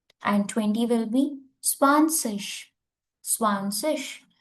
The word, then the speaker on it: zwanzig: Zwanzig. This ZIG will pronounce like a ish.